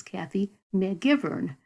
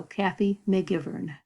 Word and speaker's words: Kathy Megivern: with my name but the way i pronounce my name is kathy mcgivern it got cut off so you've got a little bit of the k sound and i think that's about it so kathy mcgivern and webex would be